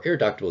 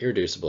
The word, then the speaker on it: irreducible: in our essential question what irreducible or irreductable is another way that i sometimes have seen it pronounced but irreducible is how i would say it it cannot be